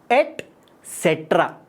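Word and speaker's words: et cetera: तुम्हें पक्का पता होगी, लेकिन इसकी प्रोनाउंसिएशन में तुम पक्का गलती करते होगे, ये भी मुझे पता है। ETC भी एक लैटिन एक्सप्रेशन है जिसकी फुल फॉर्म होती है एटसेट्रा। ध्यान से सुनो, एटसेट्रा।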